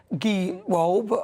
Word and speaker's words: Gewolb: Roger Gewolb. Have I said it right? It's Gewolb, I've got it right.